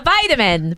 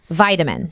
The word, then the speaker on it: vitamin: uh different pronunciation so you say vitamin I say vitamin that's interesting yeah vitamin vitamin yeah vitamin I have a long ey there I vitamin vitamin and and a D sound oh yeah not vitamin